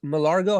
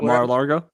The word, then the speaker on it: Mar-a-Lago: this tournament is happening in uh malar malar malargo how do you pronounce that uh mar-a-lago yeah so uh yeah there's there's some weird